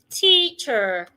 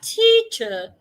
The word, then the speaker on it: teacher: In standard British, do not pronounce the R. In standard American, please pronounce the R. So, we have teacher or teacher.